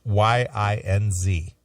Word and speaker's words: yinz: brother locally, Cleveland Cleveland local, asking me about Yinz and Youns and, you know, all these different phrasings that I have not heard it. Yeah, it's why it's Y I N Z.